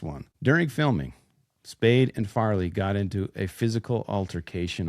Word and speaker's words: Farley: Are you saying Fairly? Oh, sorry, Farley. I have said it wrong a couple times, I think. I think so. Of the Farley brothers. I'm sorry, it's Farley. I know. I'm sorry. Okay. It's not a. I felt crazy for a second. It's not an obvious mispronunciation like I normally do. Yeah. Yeah, it's Farley.